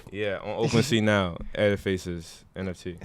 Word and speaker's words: Ediface: Edifaces NFT. Spell that. Okay. Spell that. EDIFACE. Not like edifice, like a building, but ediface.